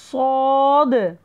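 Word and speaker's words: ص: அடுத்தது பாருங்கள், சாது சாது சாது நல்லா ஒல்லினமாக ஓதணும், சீன் மாதிரி மெல்லினமாக சவுண்டு வரக்கூடாது, ஒல்லினமாக ஓதணும், சாது சாது சாது.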